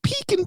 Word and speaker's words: pecan: in a while but every time I say this pie I gotta say it like my mom because this was right uh Brian can you give me some pecan pie yeah pecan pie which my mom always oh peeking pie all right mom I'll